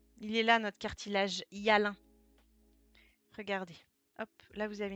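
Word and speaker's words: hyalin: Voilà, il est là notre cartilage Yalin. Regardez. Hop. Là, vous avez une coupe au microscope. Donc ça s'écrit comme ça.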